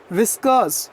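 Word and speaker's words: whiskers: से लंबे लंबे बाद गुरु क्या बोलते हैं विस्कस विस्कास या आर को नहीं बोला और साइलेंट है व्हिस्कर शनि बोल है विस्कस बोलना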